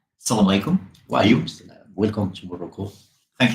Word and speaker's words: assalamu alaikum: Is it Assalamu alaikum or Salam alaikum? Both. Assalamu alaikum. Assalamu alaikum. Everyone in different parts say it like different way, but it's assalamu alaikum.